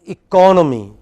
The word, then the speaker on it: economy: the screen but listen to me it is economy just don't just just listen economy next next